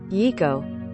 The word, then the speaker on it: Yiko: Rather than pause my well-oiled preschool routine to grab a mop, I simply had to say, "Okay, Yiko." Pronounced E-E-ko.